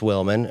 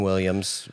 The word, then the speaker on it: Willman: Cuz I was I knew people mispronounced Wilman cuz I got called Justin Williams every day of my life, right? People just see W I L and then they stop reading.